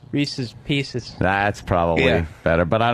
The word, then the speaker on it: Reese's Pieces: You said Reese Pieces. It was Reese's Pieces.